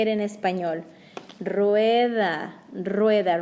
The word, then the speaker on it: rueda: Rueda, rueda, roll your R.